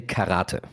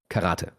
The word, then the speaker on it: karate: was um I mean in in Germany we say karate. So so we stress the the second a karate, right? And then we had a Japanese um ad assistant director on set I think. And she was like no actually you stress the last syllable.